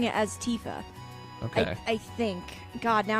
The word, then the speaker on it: Tifa: RPGs, to the point where I still say Tifa, even though it's Tifa. Wait, 'Cause- what? Are you serious? Yeah. What? No. Because I in my head, it was Tifa, and for years it was Tifa, and then